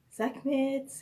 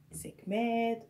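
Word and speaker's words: Sekhmet: Sakmat, tout ça c'est correct si vous prononcez comme ça. Ok? Je veux pas que vous vous sentez confus, mais c'est correct de prononcer ainsi. Donc, Kepri et Sekmet ou Sakmet.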